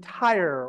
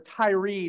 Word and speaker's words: Tyre: Our story takes place in Tyre, or Tyre, depending on how you want to pronounce it, along the Mediterranean.